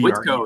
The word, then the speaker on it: Whitko: First of all, did I nail the pronunciation of BRE? Whitko, yes, Whitko.